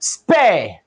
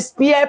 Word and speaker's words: spare: So I won't call this spear, like I see some people, they call it spear part. That's a wrong pronunciation. This is called spare part. So this is spare because this sound is ear and this sound is air. So this is spare and this is spear.